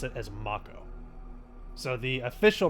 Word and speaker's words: Mako: the game the characters in the game actually pronounce it as Mako so the official pronunciation is Mako then I'm gonna go with Mako it's just